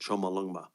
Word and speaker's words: Chomolungma: Choma Lungma. as it's called. That's how they pronounce it, Chomolungma.